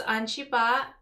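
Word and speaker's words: Ungelbah: name oh hi jessica my full name is anshiba u-n-g-e-l-b-a-h silent l i don't know it was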